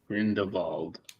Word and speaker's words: Grindelwald: in The Wizarding World sometimes it's pronounced grindal sometimes that like in that W makes sound you think that's because someone read the name once and they were like that's two v's it must be V probably that adds up